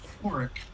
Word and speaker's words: Horrick: Um, well, part one again is the you get to explore the eclectic village of Horrick, and that would be the proper pronunciation.